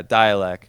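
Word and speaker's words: Dälek: okay yeah yeah yeah dialc I think that's the way you say it um okay I I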